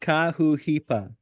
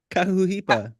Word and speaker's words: Kahuhipa: It's pronounced Kahuhipa. Hey, I said it right. Kahuhipa.